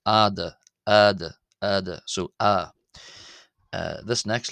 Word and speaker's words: ⲏⲧⲁ: But I believe that historically it makes more sense based off the vows of ancient Egyptian personally to pronounce this as ah and hence why I'm pronouncing this as letter add.